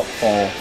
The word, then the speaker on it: Thal: Did I pronounce it correctly? Thal or Thal? Oh, Thal.